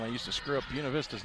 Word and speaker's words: Buena Vista: Yeah, that's how you pronounce Buena Vista.